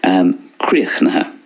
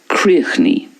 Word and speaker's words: críochnaithe: Next, críochnaithe, which is finished. Críochnaithe. So that's the way it's pronounced in Munster. Críochnaithe. In Connacht then, críochnaí. Críochnaí. In Ulster then, it's tríniha.